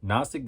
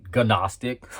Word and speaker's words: Gnostic: many times I had the urge to say no Gnostic like that that silent G like I I might